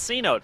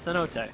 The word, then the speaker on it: cenote: working on the whole the first time this came out i was like it's c note it's cenote c note c note